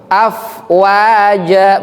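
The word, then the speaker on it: أفواجا: da gitu bukan yadu AF afwaja bukan AF W wo ada bilang wo bacanya W jadi bunyinya W padahal mestinya wa wa karena huruf Arab itu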